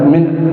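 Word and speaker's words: من: Mim cara bacanya dengan dikasr mimnya. Kalau di fathah man lain-lain yang di sini min di kasr mimnya.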